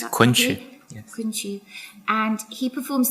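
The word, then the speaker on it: Kunqu: Is that how I've pronounced that? Kunchu.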